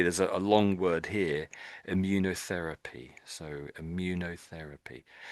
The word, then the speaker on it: immunotherapy: So the first bit is like um immune system immune and you can see this is therapy here at the end. So it's these sort of two words being glued together, immunity and therapy stuck together there.